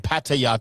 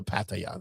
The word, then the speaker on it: Pattaya: I would love to go to Pattaya though. You won't come back. You won't come back. Pretty sure I will. It's called Pattaya. No, it's Pattaya. How they say it over there?